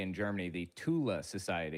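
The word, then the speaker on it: Thule: They had um the Thu Society or as they would say in Germany the Tula Society because they don't pronounce the th's. I didn't realize it was pronounced Tula until way later.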